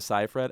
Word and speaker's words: Seyfried: I want to give a shout out to Amanda Seyfried, and I know I'm saying it right because her name rhymes with rye bread.